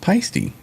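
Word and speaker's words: Paiste: So, Andy Carson, when I worked at a music store, the rep for Paisty said that it was Paisty. There are interviews with Alex Van Halen, and he pronounces it the same way.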